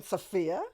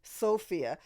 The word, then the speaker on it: Sophia: oh I understand no I don't mean sopia that's her name sopia Loren I mean Sophia as in long o sound with a vowel followed by the consonant which makes it a long o right but it was